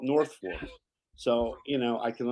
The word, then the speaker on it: Norfolk: It's spelled Norfolk, but they call it North Folk.